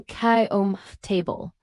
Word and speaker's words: comfortable: to comf or even kom table. This reduction isn't lazy speech. It's how the word is naturally pronounced in professional American English.